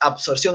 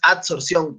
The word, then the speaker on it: adsorción: Capaz seguramente por la pronunciación ha sonado absorción, pero no es absorción, es adsorción con D, ¿no?